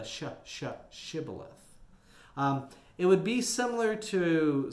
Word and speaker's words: Shibboleth: Now, the sh part of Shibboleth must have been hard for them to pronounce since they were killed for their mispronunciation. They probably said it more like Sibboleth instead of the Shibboleth.